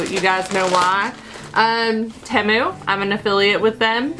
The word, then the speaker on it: Temu: guys know why um temu I'm an affiliate with them I always say tuu and say it wrong it's just a fun